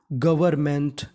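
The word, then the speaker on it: government: मतलब के representatives of जीओवी ई R Gavar E आर को हम लोग इंग्लिश में पढ़ते हैं अर क्या पढ़ते हैं अर तो मीनिंग बनी गवर एन हमारा साइलेंट है एम एन टी मेंट तो मीनिंग बनी गवर्नमेंट गवर्नमेंट गवर्नमेंट का मतलब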